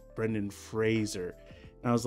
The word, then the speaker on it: Brendan Fraser: we've all been saying Brennan Frazier but it's supposed to be like Razer so it's supposed to be pronounced Brendan Fraser I didn't know that